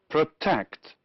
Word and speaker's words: protect: Which words are stressed on the first syllable? Yes, labor, moral, practice, and loyal. And the other words are stressed on the second syllable, that is, the words protect and agree.